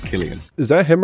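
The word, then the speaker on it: Cillian: guy who played Oppenheimer it's pronounced Killian is that him right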